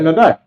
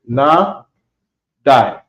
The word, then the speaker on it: Nadai: Okay, Nadai. You pronounce it Na Die.